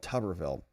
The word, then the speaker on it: Tuberville: Learn how to pronounce his name. It's called Tuberville.